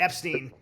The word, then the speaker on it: Epstein: Was the Epstein? Yes, it rhymes with Schmetzstein.